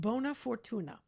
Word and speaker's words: Bona Furtuna: Owned and operated a cookie company, and is now thrilled to be part of Bona Furtuna. Am I pronouncing it?